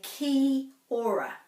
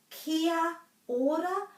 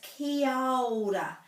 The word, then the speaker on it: kia ora: ora most people well many people say ki aura so they're missing out this and there are actually no